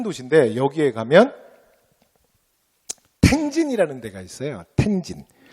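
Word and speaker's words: 天津: 그래서 굉장히 큰 도시인데 여기에 가면 텐진이라는 데가 있어요. 텐진. 우리 발음으로는 천진이라고 발음합니다.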